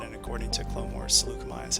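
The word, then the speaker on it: Saleucami: And by the way, I did double check the pronunciation of it, and according to Clone Wars, Seleucami is how it's pronounced. Oh, so it's not Sayakami?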